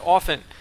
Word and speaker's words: often: Porofessor is nice enough to show you who you play with often. This has nothing to do with League of Legends, but you do not pronounce the T in often.